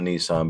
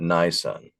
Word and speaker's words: Nisan: Not Nissan but Nisan.